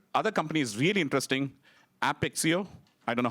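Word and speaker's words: Apixio: company is really interesting a pixie oh I don't know how to pronounce it but it is API plus X plus IO right that's why the company is called a pixie oh so what they do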